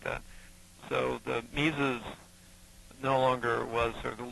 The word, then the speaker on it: Mises: with it he was uh what lwig Von mises is that how you pronounce his name well yes Von mes uh Austrian economics goes back a long way